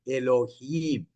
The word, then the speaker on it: Elohim: आपको प्रोनाउंस करने के लिए ए भी, ELOHIM, एलोहीम।